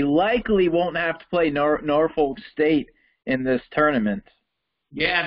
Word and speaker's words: Norfolk: I think they're pronounced like Norfolk.